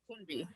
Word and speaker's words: Kunbi: Am I pronouncing your name correctly? Kunbi or Kunbi? Kunbi. Kunbi. Yeah.